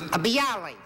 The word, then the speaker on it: bialys: a B Ali is that the way you pronounce bialys yeah the Yali originated in a place called